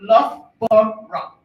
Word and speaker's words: Loughborough: So if you're going to tell people you're going to Loughborough, it's good to learn to pronounce it. So it's Loughborough.